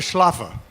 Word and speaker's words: Schläffer: your name right schlafen not bad okay good afternoon he's Austrian not German but you still have to pronounce it the German way right basically so okay